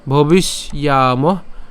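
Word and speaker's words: ভবিষ্যামঃ: এরপর নচৈব ন ভবিষ, ভবিষ, অর্থাৎ এখানে আমরা ভবিষ অর্থাৎ মূর্ধন্য ষ পর্যন্ত উচ্চারণ করলাম, এবং যে জফলা আছে জফলা উচ্চারণ আমরা কতটুকু পর্যন্ত উচ্চারণ করছি? ইয়ামহ পর্যন্ত উচ্চারণ করলাম। ঠিক আছে, ভবিষ ইয়ামহ সর্বে বয় মতঃ পরম।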